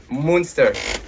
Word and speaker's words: Moonst3r: que decir cómo está este proyecto ellos son Monster es así si es Monster o Monster Monster Okay si es muy porque sí se respeta